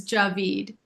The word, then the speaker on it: Djavid: And I did pronounce your last name correctly, is it David? You were close, but everybody gets my last name wrong. So you So sorry about that. the better pronunciators of my name, but it's Javid. Javid.